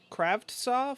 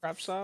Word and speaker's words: Kravtsov: Kravtsov, I think. I don't know. I don't think it's a hard T, or I don't think you pronounce both. Kravtsov.